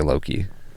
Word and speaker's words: LöKii: where you're from but in sweden and stuff it's pronounced like look and then there's there's